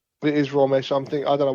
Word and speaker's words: Romesh: It's Ramsh. It is Romesh.